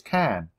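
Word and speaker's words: Caen: for you so do you have something we can take to Kathleen ask Jack oh yes said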